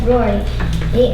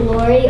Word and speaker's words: Rory: no my name's just Rory and some people pronounce it Lori or Cy and it's kind of funny.